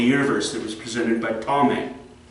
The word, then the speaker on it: Ptolemy: that was presented by Ptolemy. It's spelled P-T, not starting with a T. I don't know why it starts with a P, but Ptolemy starts with a P. P-T.